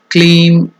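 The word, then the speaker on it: क्लीं: The third one, Kleem or N, should be nasal, or while ending, if it is ending, it can be pronounced as clean. Some pronounce it as clean, nasal in the nose.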